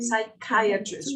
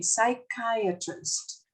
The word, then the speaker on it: psychiatrist: a psychiatrist very good psychiatrist repeat with me psychiatrist psychiatrist that's right we don't pronounce the p in english we don't pronounce the p we go directly to the s psychiatrist psychiatrist that's right